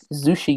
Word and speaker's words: Zushi Games: Zushi Games. Everybody knows their great work. Sushi. Sushi. It rhymes with sushi. That's right. But it's spelled with a Z.